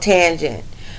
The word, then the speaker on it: tangent: trick function is called tangent um and we pronounce it like this tan and then J so I want to